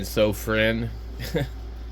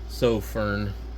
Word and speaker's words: Sofirn: the sofin or sopir I've heard people pronounce it a couple ways I I keep saying s friend even though it's so Fern something like that so Fern anyway uh this is